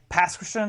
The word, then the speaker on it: Pass Christian: Actually, every letter is individually pronounced. So, PASS, Christian? Pronounce every honking letter.